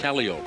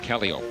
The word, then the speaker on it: calliope: And that is the right way to pronounce it, isn't it? Calliope. Calliope.